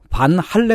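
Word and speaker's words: Van Halen: 이제 소개가 되고 그랬는데 밴 헤일런 이라고 부르지 않고 반 할래 이라고 부릅니다 방송 했어요 특히 그 발음을 열심히 밀어 주시는 분이 계세요 어 논리가 이렇습니다 네덜란드 사람이니까 네덜란드어로 불러야 된다는 거예요 이렇게 두개 예 90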